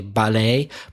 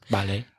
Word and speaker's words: ballet: The French, in French, there is no real stress except the last syllable is always stronger in any French word. So, ballet.